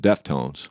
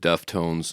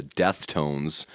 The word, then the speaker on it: Deftones: I was at that show, and I had not heard of Deftones until they were announced on the bill. And I was mispronouncing it, calling them the Deathtones, thinking they were, before